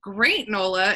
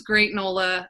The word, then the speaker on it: Gr8nola: who was like wait why don't you just call it great nola instead of great granola um but i was